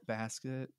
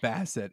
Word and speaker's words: Bassett: is in it yep angela basket mm-hmm i said i almost basket yeah uh angela bassett excuse me see i'm terrible at